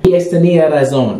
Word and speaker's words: Tenía razón: TENÍA RAZÓN.